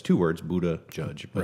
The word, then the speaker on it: Buttigieg: I looked it up how to say it, and it's two words, Buttigieg.